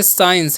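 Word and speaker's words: science: इसे पढ़ते हैं साइंस।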